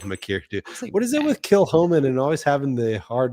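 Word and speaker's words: Kilchoman: Yeah, the uh the box that I got from the uh Comri Com uh that that actually had a pronunciation guide in there at the beginning. It said kill dash ho dash men.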